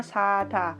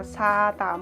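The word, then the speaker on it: 싸다: Berarti ini cara membacanya sada. Itu artinya murah. Tetap ya, nggak ada perubahan ya, tetap bacanya suaranya itu sama, sada, murah.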